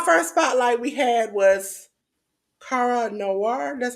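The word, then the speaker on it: Kara Noir: week okay our first Spotlight we had was Cara Noir that's how you pronounce it Jes that's right that was on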